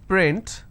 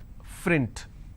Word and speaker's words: print: For example, if I have the word which is print, Lot of people pronounce this as frint. So that is where the mistake happens.